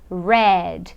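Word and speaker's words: read: coloco e de aí eu vou escrever da mesma maneira mas eu vou pronunciar de uma forma diferente no passado eu falo Red então é head head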